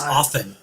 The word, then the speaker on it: often: i don't use often it's often t is silent are you sure i'm